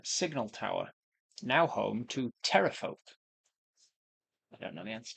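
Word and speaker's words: Pterafolk: tower, now home to terrafolk? Terrafolk as in with a silent P.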